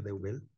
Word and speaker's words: Deubel: de Deubel, se pronuncia correctamente Deubel, es politólogo, tiene una maestría en ciencia política